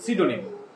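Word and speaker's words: pseudonym: আবার পরবর্তীতে আছে সিডোনিম, সিডোনিমের মধ্যে হচ্ছে প্রথমে পি দেয়া আছে, তাহলে এটা আমাদের কিভাবে শিখতে হবে পিসিউডোনিম, পিসিউডোনিম মানে হচ্ছে সিডোনিম।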